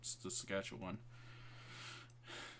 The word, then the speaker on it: Saskatchewan: And it went into Saskatchewan. I don't know if you pronounce that correctly, but yeah, it like spread into that's right. Saskatchewan.